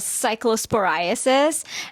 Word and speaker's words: Cyclosporiasis: Cyclosporasis or Cyclospora or how exactly do you pronounce it? We can start from there. Yes, so the disease itself is called Cyclosporiasis.